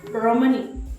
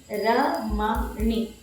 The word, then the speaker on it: Ramani: pronounce my name like Ramani. No, I'm not Ramani. Because my name is a Telugu name, I should pronounce it without rolling R. It is Ramani. It's not Ramani.